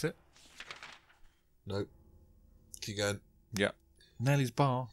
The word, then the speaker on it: Neely's: Nelly's bar. Neely's bar. I guess. You guess it's Neely's bar by the way it's spelt, huh?